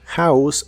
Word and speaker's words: house: que significan la casa la H de House se pronuncia como una J suave y la o se